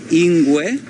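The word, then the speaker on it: ingwe: is called Shangaan and the word for leopard in Shangaan is in way and so that's how you say it anyway and if you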